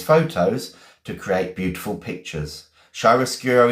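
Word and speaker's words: chiaroscuro: Shyroscuro is Italian. Yes, it is. It was defined by Italian painters. Yes, it was. Um, excellent. Okay, Shyroscuro.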